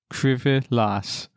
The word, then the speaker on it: Krzywy las: Krzywy las. What? Krzywy. One more time. Krzywy las. That's how they say it in Bless the you.